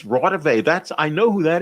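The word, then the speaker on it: Raudive: a minute he didn't he just mispronounced it it's rotterday that's i know who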